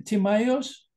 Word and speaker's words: Timaeus: And even Plato, as an idealist, in Timaeus, am I pronouncing correctly, Timaeus in English?